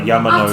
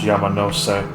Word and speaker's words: Yamanose: I used to call that I Yamanos. can't one quick. I know. I used to call that Yamanos. It's pronounced Yamanose.